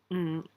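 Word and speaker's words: 五: last name NG, and it's super hard to pronounce because you don't it doesn't come out. Kind of swallow it. Mm.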